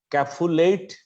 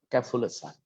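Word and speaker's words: café-au-lait sign: আমি জানি এটা অনেকে পারবেন হয়তো, তবু আমি বলে দিচ্ছি, দিস ইজ ক্যাফুলেসাইন। উচ্চারণটা ক্যাফুলেট বলবেন না, ক্যাফুলেসাইন।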